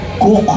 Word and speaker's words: Coke: ni sir Edward cook Hanapin niyo ang spelling ng cook Coke Hwag niyo ng tanong kung sino nagc pero sir Edward cook ang pagpronounce niyan Ang sinabi niya a